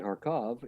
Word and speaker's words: Kharkov: And then Kharkov is exactly how the Russian pronunciation is.